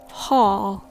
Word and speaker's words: hall: we're going to talk about the difference between Hall and ho Hall and hole a hall is